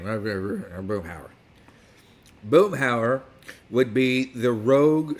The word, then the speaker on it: Boomhauer: Yes, I said that right, because that's how Boomhauer would say his name. Boomhauer.